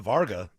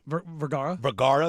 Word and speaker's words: Vergara: I heard Tom's braids was Stupin Sofia Varga of recent. Vergara. Thank you. There you go. I always say that name wrong.